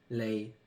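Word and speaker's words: 脷: So the word tongue, lei, sounds like the word fortune, lei.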